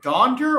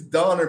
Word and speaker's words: Donner: Okay, by the way, is it Donder or Donner? It's Donner, but he said Donner.